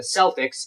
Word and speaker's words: Celtic: soft say in sports teams names like the Celtics Celtic with a hard C or k is